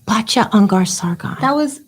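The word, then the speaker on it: Batya Ungar-Sargon: Unlike other people, I like to hear the creative pronunciations. Batya Ungar Sargon.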